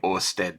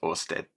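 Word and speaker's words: Oersted: So, it's pronounced simply Orstead. There you go. It's Orstead.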